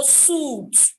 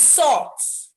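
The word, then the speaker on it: soot: first learned this word i would go suit suit but it is soft i want to run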